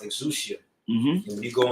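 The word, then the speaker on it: ἐξουσία: Now, particularly in this verse, the word power in the Greek that's pronounced exousia.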